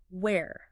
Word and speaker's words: where: sound almost like were and then where. Say that where. You kind of have to open your mouth a little bit more for that air sound like you're asking a question about a place.